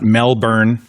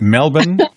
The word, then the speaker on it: Melbourne: We got to see Sydney and not Melbourne, but Melbourne.